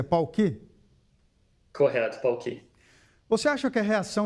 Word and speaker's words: Palqee: Primeiramente, eu pronunciei certo o nome da empresa? É Pauqui? Correto, Pauqui.